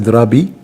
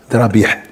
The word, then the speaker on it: Drabi: Mon prénom, mon nom, c'est Drabi. Il n'est pas Drabih. Première chose. Parce que les Maghrébins, ils prononcent les H, Ha. Alors c'est vraiment Ha.